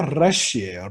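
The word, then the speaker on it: ריש: 래쉬. 이게 이렇게 떨리는 발음이에요. 떨리는 발음입니다.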